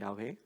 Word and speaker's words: 야훼: 히브리어 원어 발음으로는 야훼라고 하죠. 야훼.